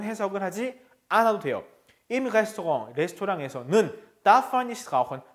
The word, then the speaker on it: Restaurant: Im Restaurant darf man nicht rauchen. 자, 레스토랑 저건 프랑스어기 때문에 발음상 여러분들이 조금 낯설 수 있어요. 써 있는 거하고 철자하고 발음이 좀 다르죠?